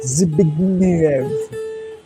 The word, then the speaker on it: Zbigniew Preisner: By the way, people who don't know how to pronounce his name, Zbigniew. That Z is pronounced as Z, and big as big, and Niev. Zbigniew Preisner. This is how you pronounce the name.